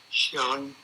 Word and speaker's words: Schelling: And tell me one more time the pronunciation of your last name, the correct? Schelling.